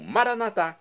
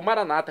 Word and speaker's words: Maranata: E agora eu clamo, Maranatá, como dizemos nós católicos, ou Maranata, como dizem nossos irmãos separados, os evangélicos ou protestantes. Não importa a pronúncia, o significado é o mesmo.